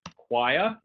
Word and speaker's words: choir: if you have a choir and this is a weird word actually because it kind of new series word CH o IR and it how do you pronounce it it's choir so you have so